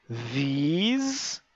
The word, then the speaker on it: these: É porque esse som da língua entre os dentes, do TH, né, ele não existe no português.